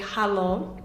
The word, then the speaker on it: halo: In Serbian, you would say halo. So just a slightly different pronunciation.